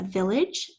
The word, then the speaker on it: village: The next word was a village, vil, edge, and if you remember my little rule about E come after the G to make it a soft sound at the end of a word.